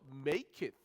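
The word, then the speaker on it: maketh: 그래서 make it 그렇게 발음을 해요.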